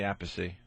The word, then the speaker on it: Appice: Appice, Vinny Appice, Carmine and Vinny Appice.